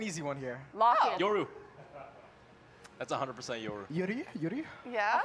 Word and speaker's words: Yoru: I mean, if he's gonna say it like that, it's Yoru.